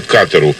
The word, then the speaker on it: Катар: Дело в том, что Катару, кстати, ударение в названии этого Эмирата падает именно на первый слог, прописали катарсис, то есть оздоровление или очищение.